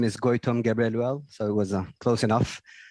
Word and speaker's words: Gebreluel: Gabriel Durel. My apologies again. Please pronounce it for us correctly so we know how to pronounce your family name.